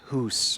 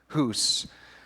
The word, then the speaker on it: Hus: the great schism and jan hoos or some people have they've looked at his name as john huss i think it is more accurately pronounced john huss he comes right after